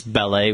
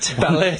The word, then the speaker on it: ballet: words I know sometimes sometimes I pronounce ballet with the T just to watch my wife cringe ballet ballet yeah one time she'll